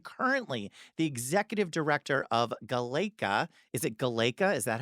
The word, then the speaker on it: GALECA: the executive director of GALECA. Is it GALECA? Is that how we say it? We pronounce it multiple different ways. I just call it GALECA the whole time, but they tell me it's GALECA.